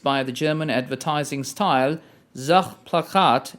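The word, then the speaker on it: Sachplakat: the german advertising style zach plachat as it's pronounced in german which is object poster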